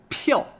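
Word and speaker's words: 票: something yo so P so always pup peel peel fourth tone so that's a pass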